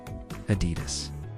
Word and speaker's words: Adidas: And by the way, that is indeed how you pronounce Adidas.